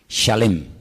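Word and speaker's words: שלם: Es se escribe exactamente igual que la palabra shalom con las mismas letras, exactamente igual, pero se pronuncia diferente. Shalem. Shalem es completo.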